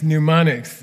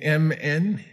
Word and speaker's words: mnemonics: second half which is mnemonics okay m-n-e-m-o-n-i-c-s m-n it's a strange word in english you don't pronounce the m it's m-n-e-m-o-n-i-c-s-u mnemonics and